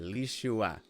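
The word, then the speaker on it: לישועה: You can kind of ignore that Y there, lishua.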